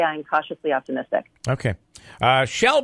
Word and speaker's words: Chele: incacha stay optimistic okay she'll by the way is spelled CH ele so when you see the name you'll you'll recognize it she'll fire Li for US